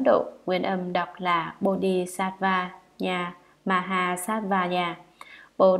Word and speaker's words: Bodhisattva: Chữ Bồ Tát Ma Ha Tát, tiếng Brahmana ở Ấn Độ, nguyên âm đọc là Bodhisattva Nha Maha Sattva Nha, Bồ Đề Tát Đà Bà Gia Maha Tát Đà Bà Gia.